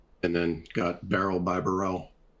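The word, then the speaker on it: Barrell: Most will say it's pronounced barrel at this point. I was calling it Burrell for several years before anybody suggested that to me. I think it's really cocky to call it barrel.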